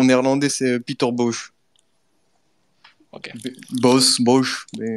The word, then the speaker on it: Bosz: Bosz. Mais Bosch, ça Bosch. dépend comment tu veux prononcer le O. Le O en néerlandais, c'est O. Donc Bosz.